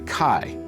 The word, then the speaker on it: chi: The center of the X, or as it's pronounced in Greek, the chi, as in alpha chi omega.